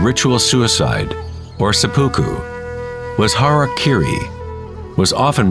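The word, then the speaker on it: hara-kiri: one form of ritual suicide or seppuku was har Kiri was often mispronounced as Harry kry it means to impale one's heart thereby cutting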